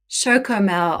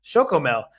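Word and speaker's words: Chocomel: right they have this special brand in Holland shokomo oh sorry I I my apologies to all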